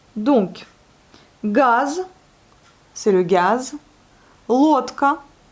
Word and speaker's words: лодка: Лодка, vous voyez, il est accentué et on le prononce bien le O.